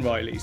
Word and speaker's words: Rili: I've got 10 of the Rilies again, but these are carbon Rilies. Is it Rili? Am I saying that right? I kept saying Rally before. It's not spelt like that, so it's spelt R-I-L-I, Rili.